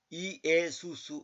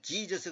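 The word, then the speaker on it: Ἰησοῦς: 물론 우리가 뭐 지저스 했다고 해서 구원 못 받고 지옥 가는 건 아니지만은 원래 발음은 지저스가 아니에요.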